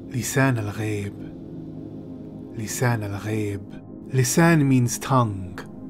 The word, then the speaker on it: Lisan al-Gaib: Closer to the real pronunciation of this word is Lisan Al-Gaib.